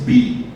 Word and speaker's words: be: e é o famoso pronuncia-se Bi como se fosse be mas se escreve e quando se traduz este